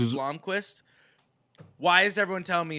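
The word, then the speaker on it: Blomqvist: yeah yeah it's pronounced Blomquist why is everyone telling me it's Bloomquist TST somebody else in the conversation there two o's it's not there's not two o's there's one o there's one o see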